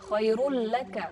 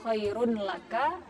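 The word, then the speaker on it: خَيْرٌ لَّكَ: Ya, khairul laka, bukan khairun laka. Karena di situ ada tasydid, maka tanwinnya melebur kepada huruf lam yang bertasydid. Khairul laka. Tapi tidak juga membacanya itu terlalu ditahan. Misalnya walal akhiratu khairul laka. Nah, itu salah. Jadi bacanya cukup ditekan sedikit saja, itu sudah menunjukkan idgham bila gunnah.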